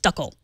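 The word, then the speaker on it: Dackel: But actually in German, we mostly call them dackle, pronounced duckle.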